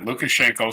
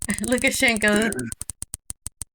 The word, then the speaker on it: Lukashenko: Lukashenko being 4 syllables alone. Yeah. Yeah. Lukashenko.